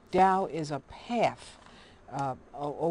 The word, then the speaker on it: Tao: explained to me a DA spell Dao but pronounced d w Dow is a path uh a way of doing